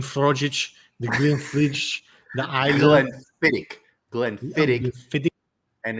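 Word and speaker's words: Islay: the green fridge the island glenn fittig and it's you see isla right isla yes you know what's a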